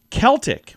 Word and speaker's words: Celtic: Celtic, with a hard K in the beginning, is a standard these days, but the S version technically came first. If you're talking about the Boston Celtics.